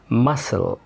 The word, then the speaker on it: muscle: لكن عندنا القاعده العامه ان حرف السي لا ينطق لو جه قبل منه حرف الاس. خلاص، زي كلمه ساينس ساينس علوم scissors seen muscle descent ascend.